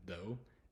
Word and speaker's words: though: w o w though the G and H are pretty much silent so though unfortunately there's